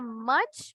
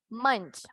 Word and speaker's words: munch: Y en este no era much porque tenemos una M-U-N. Munch.